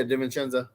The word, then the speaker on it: DiVincenzo: Yeah, DiVincenzo.